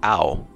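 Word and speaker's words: Ao: dawn sky i hear a lot of people mispronouncing this one it's ow it's blue this this white dragon's name is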